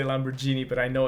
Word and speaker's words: Lamborghini: see him driving a Lamborghini. He doesn't own a Lamborghini. Sorry. Um, does he? He doesn't though. Like, No, I was flickering about the pronounced The- G on that one. the yeah. hard G.